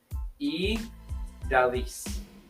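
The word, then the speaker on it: Ydaliz: E. Daliz.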